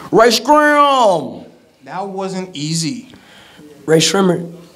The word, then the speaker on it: Rae Sremmurd: Рэй Шреммерт, like gray, it rhymes with gray lizard.